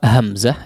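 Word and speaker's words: ء: Awalan pengucapan hamzah ya, awal terucap huruf hamzah itu harus betul-betul terdengar jelas ya. Awal, jangan sampai la, awi. Nah, itu seperti huruf mad yang diucapkan ya, bukan hamzah. Hamzah itu merapatkan antara kedua pita suara sehingga jelas tegas ya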